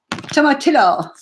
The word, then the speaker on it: tomatillo: pronunciation right. Tomatillo.